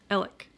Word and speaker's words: Alex: all pronounce it elec Alec which is I guess the more traditional like Scottish pronunciation correct me if I'm